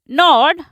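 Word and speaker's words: gnawed: टप मतलब फसना शी नॉड इसको जी silent होता है इसमें शी नॉड एट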